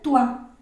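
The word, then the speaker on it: toi: entonces esto debe ser tua Porque todo lo que lleva eh oi se pronuncia ua y si se me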